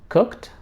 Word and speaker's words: cooked: Similarly, if k sound is followed by ed, or if there is a k sound before ed, the ed is pronounced as t. Like for example, cooked, booked, talked, walked, smoked, locked.